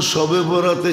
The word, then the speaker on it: শবে বরাত: একটু ডিস্টেন্স, উচ্চারণের ডিস্টেন্স আর কি, নাইলে লিখতে একরকমই লেখে। লিখতে একরকমই, আরবিতে উর্দুতে আরবিতে একরকমই লেখে, কিন্তু উচ্চারণে ডিফারেন্স। একটা হলো বরাত, আরটা হলো বারাত। একটা হলো মুক্তি, একটা হলো চলন। মানে আকারের পার্থক্য আর কি, আকারের পার্থক্য।